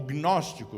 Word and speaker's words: gnóstico: E daí nós conhecemos a palavra gnóstico, ou gnóstico, mas não se pronuncia o G.